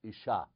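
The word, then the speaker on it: אִשָּׁה: different pronunciation and so the man is Ish and the female is ISA now people say well you know Isa is like ish with an i at the end but if you look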